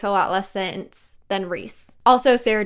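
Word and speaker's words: Rhys: have correct way to spell Reese I say Reese and reand I used to say rice and but then it occurred to me that rice makes a lot less sense than Reese also Sarah J Mass says it reand as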